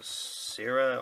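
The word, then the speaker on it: Scyrah: to get Retribution of Syrah or Syra. It depends on where you're from, the pronunciation changes. So I'm gonna show you that.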